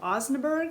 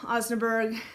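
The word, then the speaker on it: osnaburg: on the fabric called osenberg i think is how you say it os o-s-n-a-b-u-r-g is great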